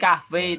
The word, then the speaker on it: kahve: Kalau V di bahasa Turki Yes. bacanya W ya. Ini V tapi kalau di Turki bacanya W kayak WW gini ya.